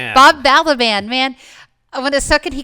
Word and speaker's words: Balaban: Bob Balaban. Bob Baliban.